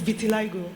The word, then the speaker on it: vitiligo: 2009 I had noticed there's no word is vitiligo you know you didn't pronounce it well I needed to correct that